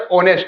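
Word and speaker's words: honest: क्या करेंगे, प्रोनाउंस करेंगे, तो यहां पर एच जो होता है ये क्या होता है, साइलेंट होता है, क्या होता है, साइलेंट होता है। अब जैसे एच साइलेंट हो गया तो इसको पढ़ते हैं ऑनेस्ट, क्या पढ़ेंगे, ऑनेस्ट, क्या पढ़ेंगे, ऑनेस्ट, ऑनेस्ट।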